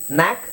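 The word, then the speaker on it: knack: ಅಂತೀವಿ ಡೈ ಅಂದ್ರೆ ಎರಡು ಇಲ್ಲೂ ಅಷ್ಟೇ ಕೆ ಸೈಲೆಂಟ್ ಆಗುತ್ತೆ ಸೋ ಎರಡು ಅಕ್ಷರ ಇದೆ ಒಂದು ಉಚ್ಚಾರಣೆ ಇಲ್ಲಿ ಕೆ ಕೆ ಸೈಲೆಂಟ್ ಸೈಲೆಂಟ್ ಎರಡು ಅಕ್ಷರ ಇದೆ ಒಂದೇ ಉಚ್ಚಾರಣೆ ಹೇಳಬೇಕು ನ್ಯಾಕ್ ನೋ ನೈಟ್ ನಾಟ್ ನಿಟ್ ಹಾಗೆ ಟಿಎಚ್ ಟಿಎಚ್ ಬಂದಾಗ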